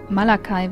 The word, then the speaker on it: Malachi: Nein, es gibt den englischen Namen Malachi, also Malachi wird da ausgesprochen, das CH dann als K.